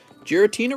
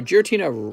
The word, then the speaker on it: Giratina: the girotina rayquaza oops oops come on now jira tina ray ray no giratina uh garchomp i said it right the first